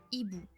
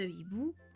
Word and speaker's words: hibou: le h aspiré cependant la prononciation du mot sera toujours identique peu importe le mot qui vient avant car le H bloque